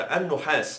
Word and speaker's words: النحاس: القطر هي قطع النحاس المذاب، وده النطق الصحيح على فكرة، النحاس، لقوله تعالى في سورة الرحمن يرسل عليكما شواظ من نار ونحاس فلا تنتصران.